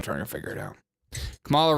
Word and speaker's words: Kamala: You over here making us pronounce these hard names like Kamala, Kamala, Kumala. How do you even pronounce it? Still trying to figure it out. Kamala rhymes with parabola.